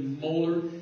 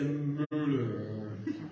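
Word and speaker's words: Moeller: In fact, it's a German name. You might not say molar, you might say Müller, Müller, or something like that. But I guess there are lots of ways to pronounce this.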